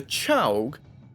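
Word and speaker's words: Czołg: polish premium heavy tank the Chow at least I believe that's how you pronounce it pwz 46 this Tank's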